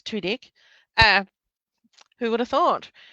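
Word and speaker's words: Tudyk: Um, apparently, um, how to pronounce Alan Tedik, which is Tudik.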